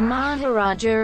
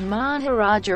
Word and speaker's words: Maharaja: Although the fact that in Hindi the suffix A is silent makes the two titles near homophones. Etymology. The word Maharaja originates in Sanskrit and